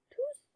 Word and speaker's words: tous: Elle s'écrit tous en masculin pluriel. Le S final s'entend à l'oral, donc on prononce S. On prononce S, donc on dit tous.